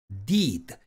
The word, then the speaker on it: did: 채널 영상인데 이것도 보시죠 여기서 첫 번째 pig 피랑 세 번째 두의 과거형 디는 장모가 적용돼서 피 did 이렇게 읽어야 되는데 이걸 짧게 발음해서 p